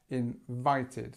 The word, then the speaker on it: invited: invited to the meeting invited so strength on the second and we have invited this part ID the Ed is actually there are three different pronunciations you can have d t or ID and in this sense in this situation it's ID just remember there are